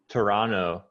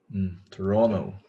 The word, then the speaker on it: Toronto: Toronto. Toronto, not Toronto. Toronto. Toronto. Yeah, this is like a silent T at the end. Toronto. You can say Toronto, but natives don't say that T.